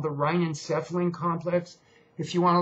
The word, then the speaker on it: rhinencephalon: It's called the rhinencephalon complex. If you want to look that up, it's spelled RHEINENCEPHALON, rhinencephalon complex, okay?